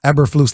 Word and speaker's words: Eberflus: Eberflus, like they said yesterday on the broadcast.